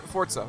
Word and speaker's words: Forza: a yes it's just the Z has like a z sound to it so it's for Forza yeah Forza Forza Horizon